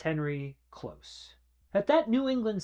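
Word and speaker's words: Kloss: It's not Henry Clauss, it's Henry Close.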